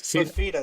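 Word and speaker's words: Fifita: Is that how you say his name? Fafita. Yes, Fafita.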